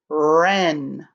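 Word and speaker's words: wren: it is a type of bird ren wr says ren w-r-e-n ren make sure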